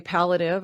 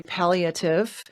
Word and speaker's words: palliative: um but um te technically speaking uh P pallative um so four four syllables there um but I think you both equally understandable or pale maybe it's pive Pate symptoms so I guess pallative is probably correct I granted I'm from